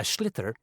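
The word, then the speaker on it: sliotar: you have to get this ball called a schlitter that's s l i o t a r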